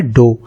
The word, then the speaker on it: dough: इसका प्रोनाउंसिएशन होता है डो। इसकी स्पेलिंग होगी DOUGH, राइट।